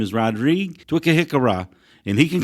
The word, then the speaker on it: Twakihikira: It's pronounced Twakihikira.